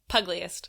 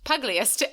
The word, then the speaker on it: pugilist: Pugliest. Pugliest.